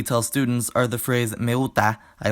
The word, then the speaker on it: me gusta: The correct pronunciations of those words are me gusta and Guadalajara, English allophones out, especially reduction, Spanish allophones and good pronunciation in.